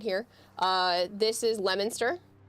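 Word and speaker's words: Leominster: Uh, this is Lemonster. It is not Leo Minster. If you pronounce it Leo Minster, you're going to be ridiculed. So, it's Lemonster.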